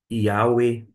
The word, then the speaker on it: Yahweh: Aqui foi colocado, e eu falei Yahvé, mas pode se pronunciar, por exemplo, Yahweh, Yahweh, e assim por diante.